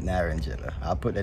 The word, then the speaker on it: naranjilla: I know it is the Spanish term where you roll your tongue to Naranjilla, but that's how I'm pronouncing it, Naranjilla.